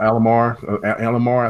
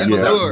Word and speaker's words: Amalur: Kingdom of Alamar, I think how you pronounce that. But Amalur.